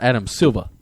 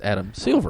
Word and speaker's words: Silver: I'm sorry so it's it's not it's not Adam Silva it's Adam Silver I guess I just say it wrong Silva Silva you got